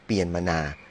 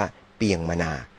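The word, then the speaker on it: เปียนมานา: นครหลวง เนปีดอ นะ ครับ อัน นี้ เปลี่ยน มานา นี่ ออก เสียง ตาม ราชบัณฑิตยสภา บาง ครั้ง คน ไทย เรียก กัน ว่า เปียง มานา บาง ครั้ง วิกิพีเดีย ก็ เรียก ว่า ยิน มานา นะ ครับ กอง บัญชา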